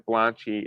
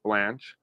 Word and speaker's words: Blanche: The E is silent in Blanchy. It's pronounced Blanche.